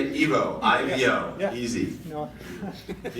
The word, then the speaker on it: Ivo: Evo, I-V-O, Yeah.